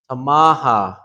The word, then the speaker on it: tamaha: Tamaha. Okay? Tamaha. Just remember that upsilon is ah. So ta-ma-ha.